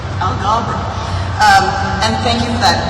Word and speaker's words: Alghabra: Alghabra.